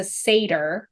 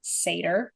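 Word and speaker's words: satyr: Percy's mom into the underworld Grover is a Sader I looked up how to say it Sader and a why yeah I I wrote it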